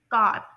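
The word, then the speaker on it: car: तो यहाँ पर ब्रिटिश इंग्लिश में का, जैसे कि आप लोग नीचे इसकी जो है ना प्रोनाउंसिएशन भी देख रहे हैं, जो कि CAH है, ठीक है, का। और अमेरिकन इंग्लिश के अकॉर्डिंग इसमें रोटिक आर की साउंड आएगी, यानी कार।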